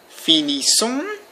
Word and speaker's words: finissons: Nous finissons, without pronouncing the S.